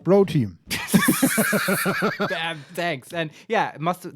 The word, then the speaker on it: Croteam: out of that game I mean Crow team a creati independent not sorry rhymes with pro team damn thanks and yeah